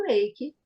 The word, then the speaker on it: Reiki: é Mônica eu vejo que você não fala re Reik como a gente fala você fala Reik né eik É É Reik